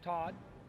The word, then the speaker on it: Todd: But anyways, name's Todd. Rhymes with God.